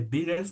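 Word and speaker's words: Wiggers: Este se conoce como diagrama de biggers, me parece que así se pronuncia, aunque se escribe con W, diagrama de biggers, que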